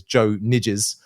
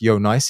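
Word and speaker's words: Nijs: let's say English native you probably read his name as Joe nides um but it's pronounced Yonce he's Belgian and um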